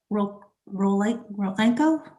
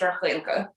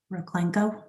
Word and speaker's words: Raklenko: And is it Miss Rolenko? How do you pronounce your name, counsel? Your Honor, my name is pronounced Raklenko. Roklenko?